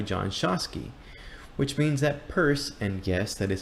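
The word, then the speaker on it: Peirce: implication discovered by John shasi which means that purse and yes that is how you pronounce his name is actually the creator of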